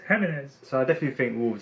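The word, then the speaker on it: Jiménez: So Spanish. I definitely not think, Jimenez, it's Jimenez.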